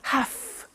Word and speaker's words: have to: pronunciation I have to notice I don't say V I say f have half it becomes have to have the two becomes in pronunciation have to have to okay so I have to